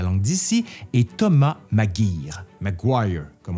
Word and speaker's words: Maguire: Maguire, comme on devrait le prononcer, comme la rue là, à Québec. Mais à Québec, on dit Maguire.